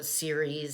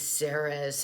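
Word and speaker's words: Ceres: asteroid or dwarf planet series and so series saris everyone pronounces it a little differently you know and venus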